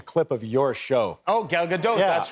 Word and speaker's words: Gal Gadot: is a special psa i learned how to pronounce her name by watching a clip of your show oh gal gadot that's right i said gal gadot and then i said is that right and